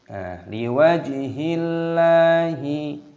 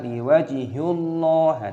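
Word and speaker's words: لوجه الله: Liwajhillahi, lillah, ketika kata Allah didahului oleh kasrah, dibaca liwajhillah, jangan dibaca liwajhullah, itu tidak diperbolehkan.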